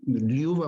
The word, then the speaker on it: Ljuba: Liuba, por ejemplo, Liuba, la J es I, la R es E.